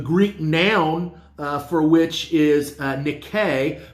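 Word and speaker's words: νίκη: The Greek noun for which is Nike, pronounced Nike, not Nike, which is used only once in the New Testament, 1 John 5:4.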